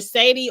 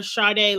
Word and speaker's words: Sade: model her name is it's either Sadie or charde like the singer because it's spelled s-a-d-e but I think it